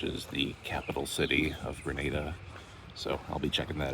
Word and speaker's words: Grenada: At some point in this video, I'm definitely going to up and call this country Granada. I know that it's pronounced Grenada.